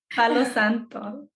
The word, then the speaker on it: Santo: burned the Santo can you say that again Santo yeah I would have butchered that so helps that we're from we're chillian we're from South America so it definitely helped um but yeah B Santo it's Hollywood it's something that we grew up